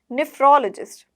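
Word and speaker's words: nephrologist: नीफ्रो नहीं है ये, अगर आप NE बोलो, नी नहीं है, नेफ्रोलॉजिस्ट, नेफ्रोलॉजिस्ट, नेफ्रोलॉजिस्ट, नेफ्रोलॉजिस्ट, नेफ्रोलॉजिस्ट। क्या बोलोगे? नेफ्रोलॉजिस्ट, नेफ्रोलॉजिस्ट। कैसे बोलोगे? नेफ्रोलॉजिस्ट। ना बोलोगे नेफ्रोलॉजिस्ट, ये गलत हो गया, ठीक है।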